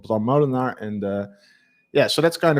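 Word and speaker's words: Moolenaar: I always thought it was Bram Molenaar, not Molenaar. In Dutch, it would be Bram Molenaar.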